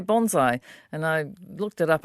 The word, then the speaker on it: bonsai: You say bonsai, and I looked it up. I thought the correct pronunciation is technically a bonsai. It's bonsai. Like B-O-N-E if you were to pronounce it. Pronounce kind of like bone.